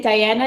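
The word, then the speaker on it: Dayana: okay all right everybody go ahead and pin diana it's d-a-y-a-n-a did i pronounce that right yes you did okay fantastic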